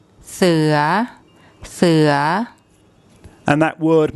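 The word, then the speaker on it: เสือ: there's no tone mark so for a high class initial consonant and a live syllable we use a rising tone see ya see ya see ya and that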